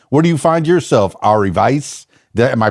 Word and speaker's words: Ari Vais: And where do you find yourself, Ari Vais? Am I pronouncing that correctly?